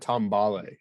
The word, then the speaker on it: Metambale: We also discovered in one of those emails, Phil, that you had been pronouncing Metabale's name quite incorrectly. Correct. That Matambale, I think is how you're supposed to. yes. There's an M in there.